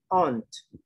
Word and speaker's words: aunt: Una pequeña T al final, aunt.